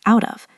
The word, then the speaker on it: out of: Again, the t is caught between vowels, so it becomes out of like a soft d.